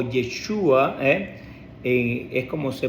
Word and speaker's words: Yeshua: religioso que de nombre Josué o jesua o yeshua es como se pronuncia que es el mismo nombre de nuestro